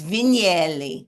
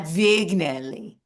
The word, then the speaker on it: Vignelli: He's like, Debbie, it's Vignelli, not Vignelli.